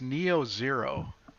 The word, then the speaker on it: NIO Zero: I'm going to pronounce this Neo Zero. So NIO zero apostrophe S Neo Zero store, and so it's a very lovely shirt.